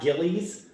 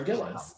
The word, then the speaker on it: Gilles: your last name hypergilis correct not ghillies because that's all a ted barton was saying he kept being like miss gillies piper ghillies and i was like oh my gosh this is one of your own can we please pronounce it piper gillis it's oh she's from